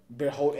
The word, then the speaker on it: Bertholdt: Let's talk about why Ymir went back with Bertholdt and Reiner, you know what I'm saying?